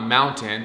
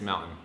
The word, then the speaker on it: mountain: we don't say kitten we don't pronounce our t's in utah okay i know they